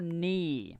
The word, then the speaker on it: knee: It's called knee. This is your knee. Okay, you don't pronounce the K.